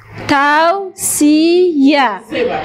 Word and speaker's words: توصیه: تاو سی یا. بله. ت آ و س ای ی ا افتونه. تاو سی یا دو دفعه تلفظ میشه ولی نوشته نمیشه.